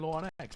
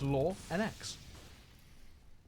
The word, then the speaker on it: lauNX: the two no not many people were saying law X but there we go that's how you pronounce it it's law NX there you go fun fact the more you